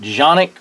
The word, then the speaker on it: Canik: sfx competition model uh some people might pronounce it jonic or organic or Canik or whatever I pronounce akanic just kind of old habits I guess uh whatever so